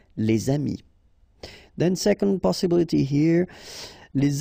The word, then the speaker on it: les amis: this one, amis, friends, then you should make the liaison, les amis, all right, les amis.